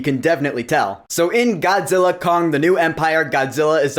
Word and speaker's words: Godzilla x Kong: Godzilla Kong, the New Empire. Yeah, I know the X is silent now. So Godzilla Kong, the New Empire is